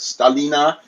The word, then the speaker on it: Stalino: It used to be called Stalina. If you looked on the old Soviet maps, it would read Stalino, right? But Stalina in the proper pronunciation.